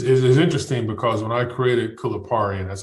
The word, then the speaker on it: Kulipari: It's interesting because when I created Kulipari, and that's how you pronounce it, right?